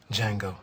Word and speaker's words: Django: rambunctious sword ain't he your name Django the D is silent and finally the first